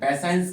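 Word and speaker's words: patience: तो इसको शन, पैसेंस की स्पेलिंग देखिए, पैसेंस की स्पेलिंग को श प्रोनाउंसिएशन आपको इसका करना होगा। तो ये ध्यान रखना है TIE जब आ जाए तो इसका प्रोनाउंसिएशन आपको क्या करना पड़ेगा? श।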